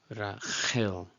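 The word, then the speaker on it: רָחֵל: just respectfully listen, but I hope by now we all know the ch sound is not in biblical Hebrew. It would be Rachel, okay? Get used to that the chet sound.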